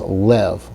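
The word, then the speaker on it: לב: And that Hebrew word is lev. Lev means heart, and we see the seri underneath the lamed that gives us an sound for the lamed to give us lev.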